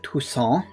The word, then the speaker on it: Toussaint: Toussaint in front of us right now. And you've got to pronounce it like that because he himself is French.